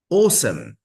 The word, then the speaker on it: awesome: mosque mosque special special awesome awesome or in American accent you can hear awesome but the stress doesn't change it's always in the first syllable in this word hi hi next page